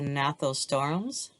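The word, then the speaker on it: Gnathostomes: the cyclostomes and the nathos storms the g is silent so we have the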